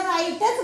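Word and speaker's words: write: त्यावेळेस सुद्धा आपण याला राईटच म्हणतो राईट म्हणतो म्हणजे वर चा उच्चार तिथे होत नाही आपण असं लिहित असतो राईट मग ह्या शब्दांमध्ये आपलं काय आलेलं आहे आपण मग राईट मारलं मग त्याचं ओरिजनल स्पेलिंग काय होईल राईट डब्ल्यू आर आय टी होणार नाही आर आय टी होईल पण शब्द आलेला आहे डब्ल्यू डब्ल्यू आर आय टी इ मग ह्या शब्दामध्ये आपण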